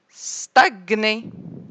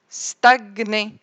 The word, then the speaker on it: stagner: Le G, je vais prononcer le G tout seul et le N tout seul. Comme gnou, gnou, diagnostic, stagner, stagner, gnome, gnome, diagnostiquer, diagnostiquer.